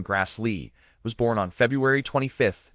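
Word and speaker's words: Grassle: Karen Grassel, pronounced Ky in Grass Lee, was born on February 25th, 1942 in Berkeley, California.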